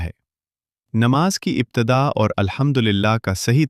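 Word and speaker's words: الحمد لله: پہلا لفظ جو الحمدللہ یہاں ل ساکن ہے، لیکن اکثر لوگ اس لام کے اوپر زبر پڑھتے ہیں۔ اس کا صحیح تلفظ یہ ہے الحمدللہ، نہ کہ الحمدللہ۔ الحمدللہ کہ جو لام ہے اس کا وہ ساکن ہے، اس پر زبر نہ پڑا جائے۔ ذرا سوچئے، جب نماز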